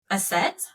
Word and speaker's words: Aset: Um, ancient Egyptians actually called her um, Aset, which is interesting because their brother's name is Set, but hers was Aset.